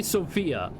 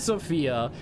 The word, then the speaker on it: Sofia: Bulgaria is Sofia, Hungary is Budapest. I actually don't know the capital for Serbia. The X is on the O. Sofia? Sofia? Is it Sofia? The accentuation is on the O.